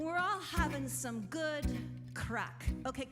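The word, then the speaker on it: craic: all having some good crack okay crack is different in Ireland than it is here in the U.S crack is spelled c-r-a-i-c and it means good times so we're all having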